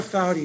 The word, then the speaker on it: Foudy: So Laura Foudy is her name. Foudy, it rhymes with howdy.